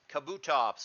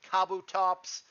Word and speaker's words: Kabutops: finally wrapping us up is Kabutops or Kabutops however you want to pronounce it it's always been Kabutops to me jab has got me hooked on saying it is kabut tops either way it's that dude uh it